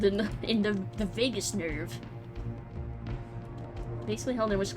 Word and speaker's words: vagus: that oh not bangers vagus is it a g or is it like a good or a g because i pronounce that very differently i'm gonna i'm gonna say vagus because it sounds vegas oh like vegas that's